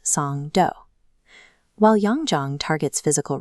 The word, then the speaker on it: Songdo: Across the bridge from the airport is the secondary node, the international business district of Songo, pronounced Song Doo.